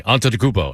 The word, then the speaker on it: Antetokounmpo: And he was like, "Say after me, Antetokounmpo."